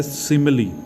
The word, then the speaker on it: simile: तो सिमिली जो है, सिमिली पहली बात तो आप इसको देखें SIMILE, तो इसकी जो प्रोनाउंसिएशन है वो है सिमिली।